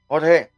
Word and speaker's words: Jorge: Um, Jorge, I keep going between Jorge and George because when I speak English to you, I say George, and then in Spanish it's Jorge, but it's same guy.